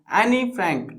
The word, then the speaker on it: Anne Frank: एनी फ्रैंक, ठीक है, एन फ्रैंक भी बोला गया कई जगहों पे, वो इंग्लिश की प्रोनाउंसिएट अपनी एनी फ्रैंक बोलते हैं या फिर एन फ्रैंक भी बोलते हैं इसको, जो भी है हम एनी फ्रैंक बोलेंगे इसको, एनी फ्रैंक।